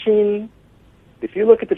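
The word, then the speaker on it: 心: if you look at the Chinese character for hearts pronounced XI if you look at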